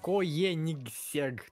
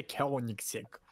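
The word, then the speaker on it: Koenigsegg: Машина называется в слове три буквы G. Коенигсег. А читается Кёнигсег.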